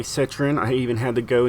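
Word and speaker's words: Citroën: 1975 uh citroen uh ds-23 now to say citron i even had to go into google to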